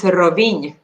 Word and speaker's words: Rovinj: So the next one, which I have trouble pronouncing Croatian words. What is it? It's Rovinj. Rovini.